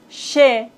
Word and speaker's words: chez: Z comme chez.